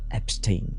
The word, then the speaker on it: Epstein: On va parler de l'affaire Epstein ou Epstein, tu le prononces comme tu veux d'ailleurs.